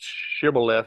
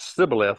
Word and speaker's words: shibboleth: You may remember in the time of Jephthah, there were certain tribes that pronounced shibboleth with a sh, and some pronounced it sibboleth with a s sound, and so they killed everybody that pronounced it wrong at these in this war. They killed everybody that put an sh where they're supposed to just be an s.